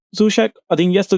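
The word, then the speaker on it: Souček: I'm going to say Sushek. I'm saying it right. Sushek.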